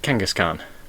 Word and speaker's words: Kangaskhan: my pronunciation consultant but this is pronounced like a genghis khan uh kangaskhan there we go off